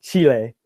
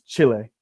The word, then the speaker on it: Chile: sounds a little strange so what Americans say is Chile Chile yay yeah okay and another